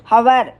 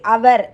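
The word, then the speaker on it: hour: அந்த ஹோராவே இப்போதைய இங்கிலீஷ் ஸ்பெல்லிங்கில் ஹவராகவும் உச்சரிப்பில் அவர் என்றும் வந்திருக்கிறது.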